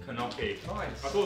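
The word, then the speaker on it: gnocchi: Oh, like knocky. Knocky. Nice. I thought it's called knocky. I thought the G is silent.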